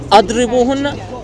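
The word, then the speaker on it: اضربوهن: sign underneath the letter, then it's gonna be idrubuhunna, which means beat them. But since it has this sign on top, that means you when you read it, you pronounce it as adribuhunna, means stay away from them.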